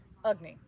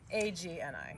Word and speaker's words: Agni: A-G-N-I, yes. A-G-N-I, yes, and it's pronounced Agni, not Agni.